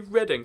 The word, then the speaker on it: Reading: do with the books, it's Reading, right? No, I call it Reading, like, kind of sarcastically a lot of the time, but it's actually pronounced Reading.